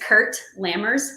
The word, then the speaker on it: Kurt Lammers: His name is Kurt Lammers. So There you Kurt, go. like Sound of Music, and then Lammers.